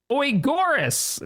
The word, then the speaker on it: Agaris: As Calzamar says, Shaq, I asked Captain Arthur last week how to pronounce it. It's Oigoris.